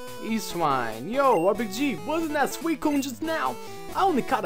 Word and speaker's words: Suicune: It's Suicune, and it jumps around us, and yeah, bye-bye, and then he shows up. Euswine, yo, RPG, wasn't that Suicune just now?